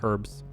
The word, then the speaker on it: herbs: you're from we say herbs here with a with just the H is silent but I know some people say herbs herb for me sounds